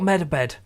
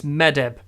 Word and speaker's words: Medeb: It's not Medabed. I noticed this when I was editing. His name is not Medabed, it's Medeb.